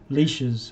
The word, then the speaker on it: lich: Very similar magics, but greater mummies are normally ancient high priests, and liches. Lich is the proper pronunciation.